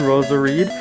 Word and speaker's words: Roserade: that one's very cool because it Rhymes Rose Parade Ros areed and as well as